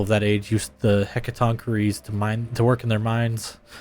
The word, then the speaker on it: Hecatoncheires: Hecaton Curie's pronunciation. mythology. How do you say it correctly? Hecatoncheires. Hecatoncheires.